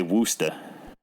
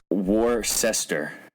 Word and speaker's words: Worcester: like Klaus I don't know they all say Wooster I don't even ask me how to say